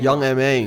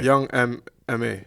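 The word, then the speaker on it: Young M.A: young he's talking about young ma young ma ma young how you butchered the name man okay young M ma yeah yeah young yeah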